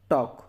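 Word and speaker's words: talk: ठीक है ऐसे ही टॉक की हमने पढ़ा क्या टॉक एल नहीं पड़ा तो ऐसे ही आपके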